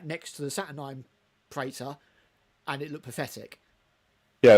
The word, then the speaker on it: Praetor: Although we say Praetor, I said this again in my video that's coming up. It's actually pronounced Praetor, not Praetor.